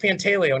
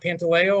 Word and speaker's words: Pantaleo: family background so um first of all it's pronounced panteleo not pantaleo or yeah you know it um i've got